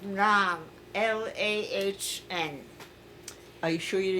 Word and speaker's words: Lahn: The border, the river was called Lahn.